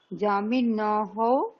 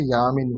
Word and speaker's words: যামিনী: হুম যামিনী, যামিন্যাः, যামিন্যः, যামিনী নাম। যামিনী নয়, শব্দটা হবে ইয়ামিনী। ইয়ামিনী, ইয়ামিনী, ইয়ামিন্যাः, বাক্য ইয়ামিন।